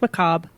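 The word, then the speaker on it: macabre: Just macob. Oh, it's a silent re.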